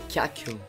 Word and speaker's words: ghiaccio: Ghiaccio. Alright, so the correct pronunciation is ghiaccio, which means ice.